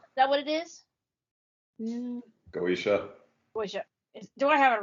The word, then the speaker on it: Goetia: Goetia. Goetia. Do I have it right? Goetia, am I saying it right? Yeah, Goetia. Yeah, that's how you pronounce it.